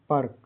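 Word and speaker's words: perk: Word के बीच में rule number two इ और इ के बाद आर से कोई व्यंजन जुड़ा हो तो इ का उच्चारण अ आधा अ होगा। जैसे पी ई आर के का उच्चारण हिंदी में परर्क इसे पी को प इ आर को अर और के से क होता है।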